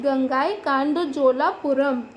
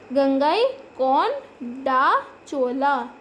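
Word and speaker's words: Gangaikonda Cholapuram: Tanjore, also called it गंगाई कांडोजोलापुरम. अब ये काफ़ी बड़ी स्पेलिंग है तो आप इसको ब्रेक करके पढ़ सकते हैं आराम से. गंगाई कौन डा चोला. तो अब कितना इजी हो गया.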